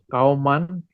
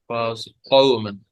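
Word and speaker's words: قَوْمًا: Kauman, Mhm. Fasiq. Fasikina, Fasiqina. Fa. There is alif after fa. Kauman, Fasiqina. Kauman, Kauman, Fasikina, Little qaf. So you should pronounce it in a thick sound. Qawman.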